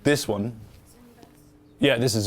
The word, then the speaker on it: Zooniverse: Zooniverse? Yeah, this is Zooniverse, yeah.